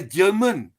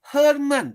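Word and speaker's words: Germán: an astrophotographer called, now, Malaysians will call it a German. Wrong pronunciation, German Penelas Perez. He's a Spanish guy, but in Spain it will be Herman. G becomes an H.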